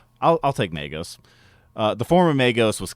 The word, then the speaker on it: Magos: Uh, in Warhammer, the pronunciation is Magos. Magos. I'll I'll take Magos.